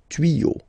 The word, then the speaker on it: tuyaux: Okay, same rule here, you won't add s at the end, but instead of s you will put x. Okay, des tuyaux. Same rule, you don't pronounce it.